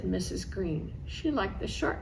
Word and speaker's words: Greene: Greene, that's Greene with a silent E at the end, discovered that they were expecting a girl.